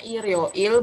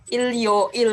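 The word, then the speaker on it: 일요일: yang Il yoil gitu kalau dibacanya Ir yoil bukan Il Il yoil gitu karena kan itu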